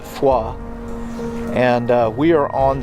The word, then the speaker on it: Foy: between Bastone and the town of Foy I think locally they pronounce it foa and uh we are